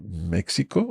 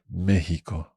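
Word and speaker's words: México: this but in Spanish do we say Mexico or mexo okay so actually you can say both mhm but the RO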